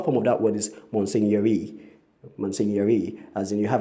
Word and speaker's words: Monsignor: People say Monsignor or Monsignor, but that's a wrong way of pronouncing that word. The correct pronunciation of the word is Monsignor or Monsignor.